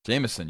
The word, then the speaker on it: Jameis: is that's Jameis Winston Jamison you always got to say Jamison come on I know